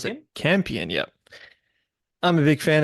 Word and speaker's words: Campion: I think you spell it, Jane you pronounce Campion? it Campion.